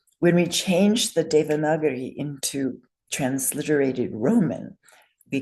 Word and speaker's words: Devanagari: Last I is long. Say again with me. Devanagari. Yes. So in Devanagari, the first vowel is